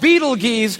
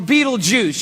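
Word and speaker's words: Betelgeuse: It's called Beetle Geese or Beetlejuice. You can pick your pronunciation. I'm obviously going with Beetlejuice.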